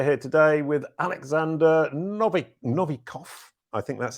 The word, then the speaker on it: Novikov: powerful brands we're here today with alexander nobby novikov i think that's how you say it yep